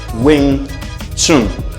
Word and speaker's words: Wing Chun: ok por lo tanto aunque esté escrito de esta manera la pronunciación como tal es wing chun es decir no vamos